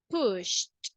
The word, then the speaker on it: pushed: So the pronunciation, instead of pronouncing ed, we are going to pronounce it as a T. And we will say pushed, pushed.